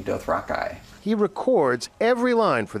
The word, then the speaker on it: Dothraki: something to reflect that though I apparently got it wrong he pronounces doth Rocky doth Rocky he records every line